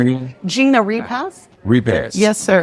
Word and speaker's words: Repass: Repass. Yes, sir. How you spell it? Repass. R-E-P-A. Yes. I couldn't tell whether it was a T on it. I know, it sounds like repassed, yes.